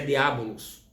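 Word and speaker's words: διάβολος: A palavra acusador é um termo grego e a pronúncia é diabolos, que quer dizer acusador.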